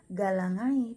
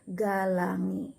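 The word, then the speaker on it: galangae: Nah, AE itu kita dibaca dengan E. Jadi kalau contohnya galangi, nah bukan dibaca galangai, tetapi harusnya dibaca adalah galangi, karena AE dibaca E.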